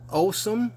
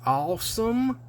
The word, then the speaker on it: Ossom: number four of 2018 this is the awesome or i like to pronounce it awesome because it is awesome awesome the designer is